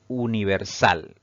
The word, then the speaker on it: universal: pues tiene cuatro sílabas sin embargo la mayor fuerza de voz o la mayor intensidad al pronunciar esta palabra recae en la última sílaba contando siempre de derecha a izquierda y eso la convierte en una palabra aguda pero sin tilde por